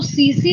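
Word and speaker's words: tsetse: सी flight है तो 30 silent होता है स्लीपिंग सिकनेस जैसे मलेरिया का वैक्चर कौन है मॉस्किटो है ठीक इस तरीके से यह जो सीसी फ्लाई है यह क्या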